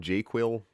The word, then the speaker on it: JQL: so Chad got it the term J quill is how I pronounce jql jQuery language it's a